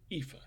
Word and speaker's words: Efa: you for listening hello my name is eva that is how you say dog if you're a seminal indian my master thought it